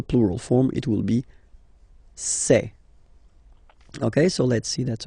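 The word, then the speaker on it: ces: then set here and for the plural say say really open this e e say Okay so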